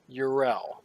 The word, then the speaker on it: Yrel: Let me say her name again correctly so you can do it right. Yrel.